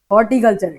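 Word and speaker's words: horticulture: है ये, हाँ हॉर्टिकल्चर, ये हॉर्टी हॉर्टी करते हो फिर तुम लोग, ठीक है, आर भी है बीच में, उसको साइलेंट मत करना, हॉर्टिकल्चर, ठीक है।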